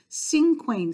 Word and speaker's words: cinquain: here so cinquain poems cinquain sounds like single right Cinco in Spanish is